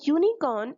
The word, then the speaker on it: unicorn: or before such words let's take the example of the word unicorn this word unicorn is starting with the Wobble hue but it has the consonant sound yo that's why I have